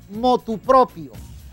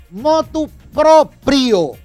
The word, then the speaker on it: motu proprio: lo hizo a motupropio lo hizo a motupropio No utilice la preposición a No utilice la preposición a es incorrecto aunque no tu propio está mal pronunciado diga lo hizo motu propio pero no intercale no intercale la partícula privativa a es erróneo y no es motu propio no es motu propio es motu proprio motu propio lo hizo